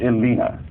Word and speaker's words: Elena: York International Fringe Festival whose name is actually pronounced Elina and John clany co-founder and former co-artistic director